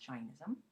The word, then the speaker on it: Jainism: in America we say jism but really it's pronounced Jainism and the study guide as well and the